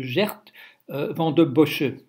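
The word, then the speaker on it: Geert Vanden Bossche: c'est la personne ne qu'on appelle le monsieur gert van den bossche voilà alors pourquoi bouger limmois réforme de borce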